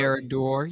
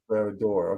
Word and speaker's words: Barad-dûr: Barad-dûr. You got that Bar- one pretty close. Barad-dûr.